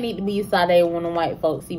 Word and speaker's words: Sade: But my name is pronounced Sade. I have an apostrophe behind my E, and my E turns to an A, so Sade. Sade is for them white folks, y'all. My name need to be Sade when the white folks